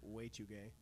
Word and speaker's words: Wechuge: I think it's the Wechuge. There you go. Yeah, it actually says pronounced. That's how I did it.